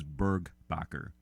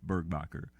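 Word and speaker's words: Burgbacher: BR you see II the last name is burg Bakker and I'm gonna go ahead and spell that that's B as in boy urg another be a CH er one more time Bruce Bert Bakker BSN boy urg ba CH ER and in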